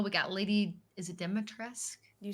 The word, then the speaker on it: Dimitrescu: Middle, we got Lady, is it Dimitrescu? You said it right. I call her Lady B because Dimitrescu. I will butcher the name.